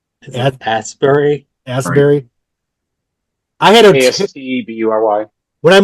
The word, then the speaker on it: Astbury: How do you pronounce his last name? Is it Asbury? Asbury.